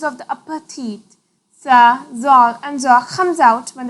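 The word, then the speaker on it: ظ: of the tongue to the edge of the upper teeth and blow with a very thick and high sound. Za. Za, za. Change only in the tongue, not on the lips. Za, za. While pronouncing za, tongue's backside goes to the upside.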